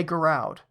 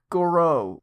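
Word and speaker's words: Gouraud: the podcast just cringe every time you say Goud Goud guro or Goro the guy who developed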